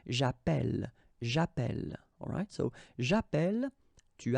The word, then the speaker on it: j'appelle: in the previous video, if you have double L like that, it will affect the pronunciation of the E. So actually it will open the sound, and that's the reason why you will get the sound E, okay?